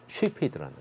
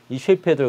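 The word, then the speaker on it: Cepheid: 이 맥동 변광성 중에서도 이제 가장 대표적인 것이 누구냐면 바로 저 쉐페드라는 거예요. 쉐이페이드라고도 하고 또는 캐페이드라고도 해요. 근데 똑같은 말이에요. 그 C 발음에 이제 다 차이가 있는 건데 같은 뜻이라 보면 돼요. 근데 이 쉐이페이드를 가지고 우리가 이제 별을 찾을 수 있다는 거예요.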